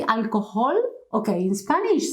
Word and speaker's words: alcohol: alcohol please remember these when you see a word with an age any word and with a matching any position try to think that there is nothing there I'll call but nothing please don't produce any sound okay I will call